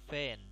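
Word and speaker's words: فين: When itu di mana artinya, atau fan. Fan bunyinya seperti huruf e.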